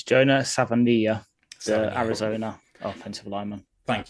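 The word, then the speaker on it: Savaiinaea: Grace Ael from North Dakota State, and Jonah Savini, I can't say it. Do you know how to say it, Ash? So, it's Jonah Savania, the Arizona offensive lineman.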